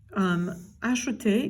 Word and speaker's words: ajouter: Because again, it's we pronounce this ajouter. It's an e caduc, ajouter.